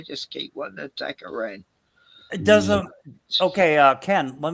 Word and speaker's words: Iran: supremacy in Iran, and don't say Iran anymore. Just it's pronounced Iran.